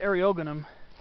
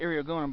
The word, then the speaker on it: Eriogonum: Some people pronounce it Eriogonum. I always pronounce it Eriogonum, but this is Eriogonum Wrighti variety subscaposum.